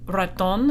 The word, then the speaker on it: ratón: Looks like rat to us English speakers, but raton, it has an accent mark on this O.